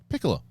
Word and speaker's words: Piccolo: Chrissy if this helps my last name is pronounced the same as the flute or it said like piccolo but don't sweat it